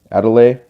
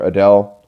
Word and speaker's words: Adel: going to be running a delay or Adele however you want to pronounce it a delay is how I pronounce it but she has haste